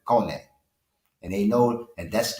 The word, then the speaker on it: Kone: They pronounce it Kone, and they know that that's that man, and he is the man when it comes to that.